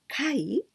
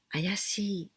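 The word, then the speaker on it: 怪: And this kai, we can also pronounce ayashi.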